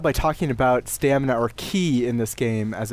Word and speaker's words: ki: It's Ki. Oh, okay. So I think it's ki, using the Japanese pronunciation.